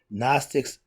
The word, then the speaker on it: Gnostics: Gnostics, the G is silent.